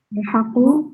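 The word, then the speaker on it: الحق: Ya, ini bacanya al-haqqu ya Bapak Ibu ya, yang belum tahu. Jadi la ketemu dengan al-haqqu. Al-haqqu kan depannya alif ya. Nah, la ketika ketemu dengan alif lam tadi, maka alifnya pergi.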